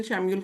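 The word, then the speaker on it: Chamuel: श प्रोनाउंस होता है सी एच ए एम यू ई एल शम्यूल ठीक है तो इसलिए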